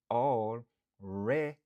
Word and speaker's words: already: Prononciation c'est already. Already. Par exemple, I already finished my work. Moi déjà fini travail moi. I already finished my work. Stress syllable lan li sou deuxième syllabe lan.